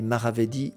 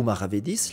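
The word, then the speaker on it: maravedí: surtout la monnaie nommée maravedi ou maravedis les deux prononciations sont possibles le maravedis qu'on va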